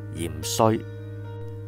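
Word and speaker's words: 芫荽: 讲起芫茜咧，其实佢有个正确读音嘅，芫茜唔系读芫茜，系读芫荽。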